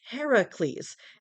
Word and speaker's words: Heracles: I will call Hercules Heracles as that is the Greek pronunciation of his name when the Romans came